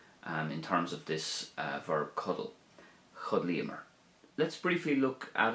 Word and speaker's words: Codail: Now, cuddle has two syllables, so it takes two items of speech to say it. Cuddle, two syllables.